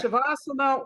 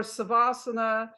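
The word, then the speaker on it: Śavāsana: Okay. Shavasana or Savasana, depending how you pronounce it, is called also corpse pose, which is a pinnacle of the yoga practice.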